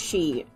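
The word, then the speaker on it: χ: It's not pronounced Cross, it's pronounced She.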